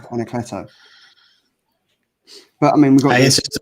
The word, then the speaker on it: Anacleto: I definitely said Ancleto in my video this week. I thought it was Anacleto. It's Anacleto. Anacleto.